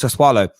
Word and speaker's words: Sassuolo: The reason you put this cheeky bid in for Locatelli is I can never pronounce the name of their team. It's Sassuolo.